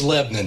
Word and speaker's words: Lebanon: Well, it's it's Lebanon. Thank you. Thank you very much. We can continue the show now. I've been around long enough to to know how to pronounce it. Thank you very much. You get corrected if you say Lebanon. No, that's in the Middle East. Lebanon is in Tennessee. It's like Shabbyville.